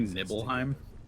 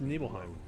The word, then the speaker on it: Nibelheim: starts establishing him super also do you say nibbleheim no more it's supposed to be pronounced Nibelheim yeah that's totally that's totally like as guardian